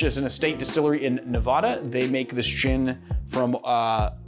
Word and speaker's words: Nevada: So Bentley Heritage is an estate distillery in Nevada. They make this gin from grains that they 100% grow on their own property. Or Nevada, as they say in Nevada. Oh, did I say it like a northerner?